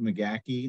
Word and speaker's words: McGaha: First big question I get, yes, it is pronounced McGaha. No, I don't understand why that is. I have no explanation for that. But if Brett Favre can get away with it, then so can I.